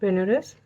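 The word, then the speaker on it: Banaras: तो मैंने आपको जो आपका लेसन था प्रोज का, the sermon eight बेनारस, English में इसके प्रोनाउंसिएशन करेंगे तो बेनारस, बट असल में ये वर्ड है बनारस।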